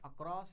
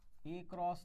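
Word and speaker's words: across: देखो, अक्रॉस, ए क्रॉस नहीं, अक्रॉस है ना, इसका प्रोनाउंसिएशन क्या है? अक्रॉस। आप बोलोगे नहीं तो ए क्रॉस, अक्रॉस।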